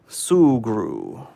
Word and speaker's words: Sugru: talked me into getting the sugru or however you pronounce it so I just got a notification from Amazon that it's shipped out oh come on oh come on sugru okay sugru let me get that off the screen here thank you for the pronunciation a correction sugru and this is almost